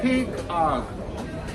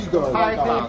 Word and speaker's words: pygarg: Pig arg. Or pygarg. Pygarg. Pygarg. No, not pig. Pygarg.